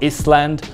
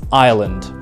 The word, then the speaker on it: Ireland: it is ireland ireland it's not island or island it is ireland the fifth one is